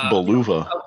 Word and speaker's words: Bulova: know Italian uh it's Bulova it's it's Bulova they'll they'll I mean almost every La almost every Latin person I know says Bulova because that's how that's how you would say it Italy uh and again the